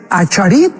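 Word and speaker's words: אחרית: Qué importante es Acharit en el hebreo, o Aharit como se pronuncia, Yom.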